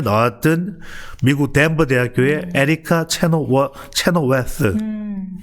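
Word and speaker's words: Chenoweth: 이게 이제 8년 전에 나왔던 미국 덴버 대학교의 에리카 체노웨스. 자, 번데기 발음이야. 번데기 발음.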